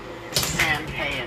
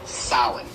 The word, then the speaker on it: Samhain: Now, when you look at the name, it looks as if it's saying Samhain or something like that. No. This is properly pronounced in the ancient Gaelic as Samhain.